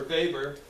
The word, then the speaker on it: Weber: And of course, one of my favorites is the Weber-Fechner law, or Weber, if you're familiar with that pronunciation.